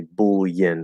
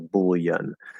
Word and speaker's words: bullion: common in american english we'll just ignore the rule and say bool yin or bullion so there's actually like four pronunciations for that one word but it's not a